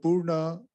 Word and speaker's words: Purna: And when he used the word integral, he was translating the Sanskrit Purna, which he calls his yoga, Purna Yoga. He uses the term Purna, and then Haridas Chaudhary begins his book Integral